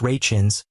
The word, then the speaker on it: Rachins: For his parts on the two shows, Mr. Rakins, pronounced Rachins, gained widespread recognition after decades of trying to make a name for himself as an actor.